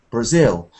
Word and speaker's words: Brazil: for example we've got words like Japan and Brazil where the stress comes uh at the end not the beginning so we've got Japan Brazil but we've also got